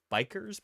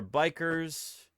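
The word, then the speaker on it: bichir: And what is a bishir? Well, let me show you, Lugnudo. What is a bishir? They're also, I've heard them pronounced bikers before? It's B-I-C-H-I-R. Yeah, Bishirs or bikers.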